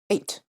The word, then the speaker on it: eite: All right, first of all, pronunciation. Eite.